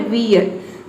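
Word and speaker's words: weird: जैसे कि देखिए यहाँ पे है वियर्ड, इसमें भी देखिए आर जो है इसके बाद आर आया है तो आर साइलेंट है।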